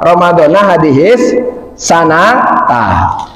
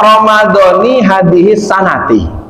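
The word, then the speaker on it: رمضانِ هذه السنةِ: Jadi kalau baca Ramadana hadis sanatah. Nah, yang masyhur di kitab-kitabnya para ulama dibacanya Ramadhani hadis sanati, tidak Ramadana hadis sanata, walaupun betul.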